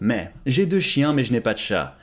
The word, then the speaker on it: mais: M-A-I-S, but it's pronounced me.